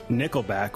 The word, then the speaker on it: Nickelback: And for those that don't know, Sarah Henry is a Canadian friend of ours that lives pretty close to Nickelback, which rhymes with stickleback.